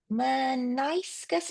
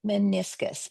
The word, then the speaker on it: meniscus: But, I could pronounce it because I I went, "Maniscus?" No, that doesn't sound right. Meniscus.